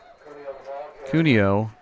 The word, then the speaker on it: Cunio: finally tackled and down cunio is the correct pronunciation and he is up